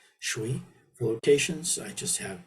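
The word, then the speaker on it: 水: Again, if you look up here, the pinyin Mandarin pronunciation is shui.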